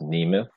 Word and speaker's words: Nemeth: The name is actually pronounced Nemeth, but you pronounce it the way everybody else does.